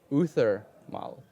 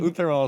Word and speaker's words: uThermal: He was the announcer for a WCS tournament, and he once pronounced your name uThermal. And it's basically Luther without the L, with Mal in the end.